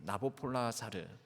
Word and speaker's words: 나보폴라사르: 느부갓네살 왕으로부터 시작을 합니다 세계의 사적으로는이 느부갓네살 왕의 이름이 아보폴라사르라고 발음을 합니다 나보폴라사르 이것을 우리 한글 성령에서 음역학 있는 느부갓네살 이렇게 발음을 하게 된 것이죠 뭐 페르시아 제국은 성경에서는